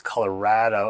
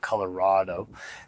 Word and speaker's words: Colorado: So first of all, Colorado, they pronounce Colorado as in it's rad, not Colorado.